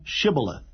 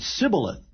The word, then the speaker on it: Shibboleth: If he said, Nay, then said they unto him, Say now, Shibboleth. And he said, Sibboleth, for he could not frame to pronounce it right.